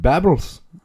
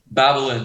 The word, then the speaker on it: Babalynn: How do you spell it? Babbles? Babylon.